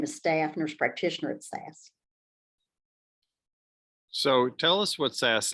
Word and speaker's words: SAS: SAS is, first of all, it's SAS, and it doesn't stand for anything. You pronounce it SAS. You don't you don't pronounce it like SAS, like IBM.